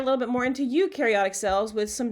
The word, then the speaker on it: eukaryotic: that's not bacteria have eukaryotic cells and that means they do have a nucleus and organelles and you rhymes with dew so eukaryotic cells do